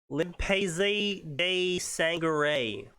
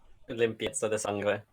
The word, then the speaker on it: limpieza de sangre: This story is called Limpese de Sangre. Limpieza de sangre, if you want to actually That's what I pronounce it.